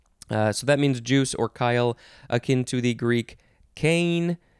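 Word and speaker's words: chyle: good word next is kyle c-h-y-l-e it's not the name kyle noun from 1541 lymph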